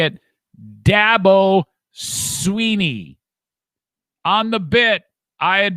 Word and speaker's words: Dabo Swinney: coach for the record how do you say your name dabo sweeney dabo sweeney it's not dabo or i'd always said